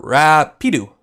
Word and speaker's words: Rapido: The pronunciation is more Rapido.